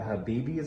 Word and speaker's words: Habibi: The Habibis, I believe they're pronounced.